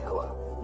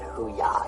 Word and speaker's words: hooah: No, I said simply hooah. That's what I said. No, you said hoo-yah.